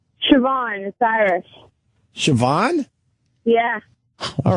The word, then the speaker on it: Siobhan: up hi how do you say your name Siobhan Osiris Siobhan yeah all right it almost has